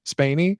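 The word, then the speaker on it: Spaeny: Spaney.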